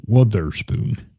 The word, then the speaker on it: Witherspoon: There's a little shameless plug for Doug Hart and Noah Witherspoon. That's with an O, Witherspoon, or something like that. Not weather.